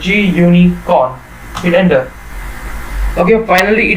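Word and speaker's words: gunicorn: So right here, pip install GUICon, right, G-Unicon, that is, okay, it is pronounced as G-Unicon.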